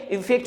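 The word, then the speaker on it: effect: आप देखिएगा यहाँ पर इफेक्ट, इसका जो प्रोनाउंसिएशन होता है वो क्या होना चाहिए, इफेक्ट होना चाहिए, और इफेक्ट का मीनिंग क्या होता है, रिजल्ट।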